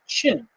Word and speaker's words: Qin: a new historical identity a people called the chin uh which in in the opinion system is spelled Qin the chin people now we'll hear a